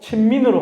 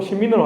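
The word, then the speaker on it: 親民: 그래서 발음도 친민으로 하지 않고 신민으로 하죠.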